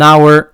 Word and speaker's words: hour: En anglais, on ne le fait pas, sauf exception, pour ce mot-là, hour, qu'on va pas prononcer hour, mais an hour ago, par exemple, il y a une heure, où le H ne se prononce pas.